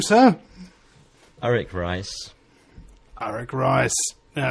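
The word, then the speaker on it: Arik Reiss: himself as well what is your name sir eric rice eric rice now it's not spelt the way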